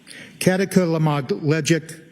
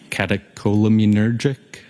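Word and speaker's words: catecholaminergic: Um, katakamagleic tacocardia. I probably butchered that up. Does that ring a bell? Uh, catacolaminergic.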